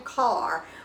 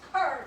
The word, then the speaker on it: Kerr: But I'm pretty sure it's Jan Carr from Nebraska. Mary, it's Kerr, K-E-R. Kerr.